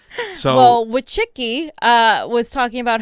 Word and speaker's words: Wojcicki: No, it's I have a little Polish in me. That's Wojcicki. Trust me, I understand it. Those are the names I know how to say. So, well, Wojcicki was talking about how